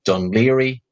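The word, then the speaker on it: Dún Laoghaire: to seaside towns like Dunleary in the south, which if you try to look it up, just use Google Maps and zoom in, but because it's spelled Dún Laogahe. So just remember the DUN part.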